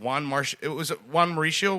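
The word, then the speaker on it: Juan Marichal: Juan Mauricio was the pitcher that was pitching for them.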